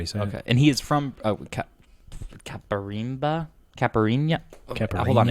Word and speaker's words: Caipirinha: And he is from Caparimba? Caipirinha? Hold on, it's written down right here. Caipirinha.